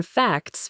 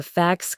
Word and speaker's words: facts: The expert said, "You need to present the facts clearly." David listened again. The T sound in facts was gone.